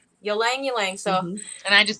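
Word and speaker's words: ylang-ylang: get this wrong Y how do you say it y Lang you say oh you say the why you Lang you Lang so and I just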